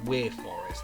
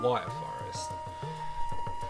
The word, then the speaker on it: Wyre Forest: I think it's supposed to be pronounced Weir Forest, but I've always called it Wyre Forest.